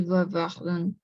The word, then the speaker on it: bavardent: Ce sont eux qui bavardent. Alors, en effet, qui bavarde, tout simplement, Ah, bavarde. bavardent. Oui, parce que ENT à la fin, on ne le prononce jamais.